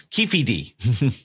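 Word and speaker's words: Keffe D: jail now so and I was pronouncing it wrong the whole time I found out it's Kei not ke yes it's Kefi D so Kefi D is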